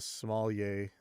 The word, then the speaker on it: sommelier: But he didn't tap the wood, so he's not being very much of a sommelier.